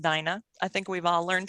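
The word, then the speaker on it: Daina: the chat as well the d-a-i-n-a is not dana it's pronounced dinah i think we've all learned today that pronouncing names is not my strong suit and how wonderful that it's dyna like you know alice's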